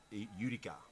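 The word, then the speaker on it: Iudica: It is pronounced Utica. Utica, so that's an interesting, it's a silent I, it's I-U-D-I-C-A, so mark that one down, viewers, Utica.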